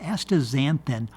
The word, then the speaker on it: astaxanthin: well yeah because I'm saying it with the Z and there's an X there but but so much